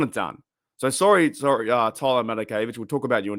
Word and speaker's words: Matakevich: By the way, we signed Tyler Matakevich. That's how you pronounce his name.